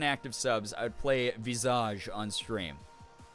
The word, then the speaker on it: Visage: my life which is the game Visage or Visage uh As Americans say it but I I think it's made by a team in Quebec so since they're French Canadian I'm gonna honor them and go Visage so this is a